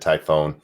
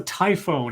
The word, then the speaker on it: typhoon: I'm being told that I mispronounced typhoon I said Typhon ferry he's like with the typhoon I was Lee yeah